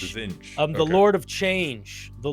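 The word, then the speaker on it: Tzeentch: It name is Zinch. Zinch. Zinch. The lord of change. The lord of change. So zinch is a weird one. Zinch is probably the most Eldridge of the Chaos gods.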